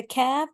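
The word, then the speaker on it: ك: Okay, the qaf is a heavy sound and the letter kaf is a lighter sound.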